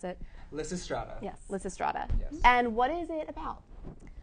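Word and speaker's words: Lysistrata: on campus what is it called I can't pronounce it Liss strata yes Liss Strada and what is it about well LZ Strada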